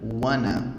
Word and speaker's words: wanna: Em vez de falar want to, você junta e vira wanna, tá?